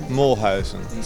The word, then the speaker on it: Moolhuizen: right pronunciation right away it's and second name mulhausen so yeah it's quite